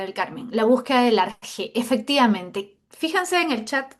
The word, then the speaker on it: arjé: Seguramente ustedes, algunos, ya deben conocer esa palabrita, arjé. Algunos le escriben arqué con C y H, lo que se pronuncia arqué, ¿ya? En griego.